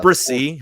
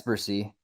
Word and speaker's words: Bresee: Bursey he's my 30th overall player is it brassy I've been saying it wrong this whole time yeah it's Percy it's for C all right we're making notes